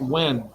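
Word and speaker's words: Nguyen: I know it's N-U-G, but it's pronounced Wen.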